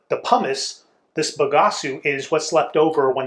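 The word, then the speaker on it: bagaço: from grape pumice or pagasu is how you say it in Portuguese and it's the pumice this bagasu is what's left over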